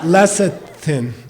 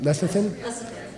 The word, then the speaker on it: lecithin: Lassetin. I don't know how to pronounce it. Leathan.